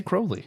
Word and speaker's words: Crowley: They do say Crowley. It's weird. Yeah, they do? so Good. No, Crowley's the correct pronunciation.